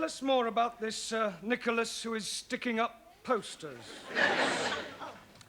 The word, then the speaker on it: Nicholas: upon a times there was a man called nickel ass it's not quite right no no once upon a time there was a woman called nickel ass it's pronounced Nicholas all right once upon a time there was